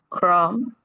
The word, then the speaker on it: crumb: Crumb. Depth. I'm sorry. dot dumb lamb lamb num. Okay, this is very easy because we don't pronounce the last letter.